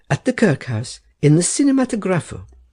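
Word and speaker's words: cinematografo: That you were seen at that very hour at the Kirkhouse, in the Cinematographo. Herr Settembrini gave the word the Italian pronunciation, with the accent on the fourth syllable.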